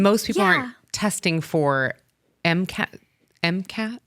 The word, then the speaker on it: MCAS: And most people aren't testing for MCAS. How do you say it? Cast. MCAS. So MCAS. Yeah. Oh, not a T at the end.